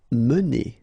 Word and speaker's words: mener: Mener. Okay, so remember when you get this like that without any accent, so it should be pronounced okay, so it goes like mener.